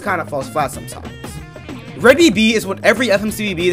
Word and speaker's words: Re:DBB: rated also BTD is pronounced red BB not rbb seventh episode of R